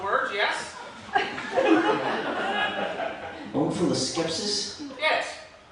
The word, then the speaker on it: omphaloskepsis: Omphaloskepsis? Yes. Could that also be pronounced omphaloskepsis? It could. It would be wrong.